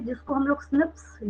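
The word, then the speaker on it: SNPs: और जब आप इसका प्रोनाउंसिएशन करते हैं तो क्या हो जाता है ये, और प्रोनाउंसिएशन में ये स्निप्स हो जाता है।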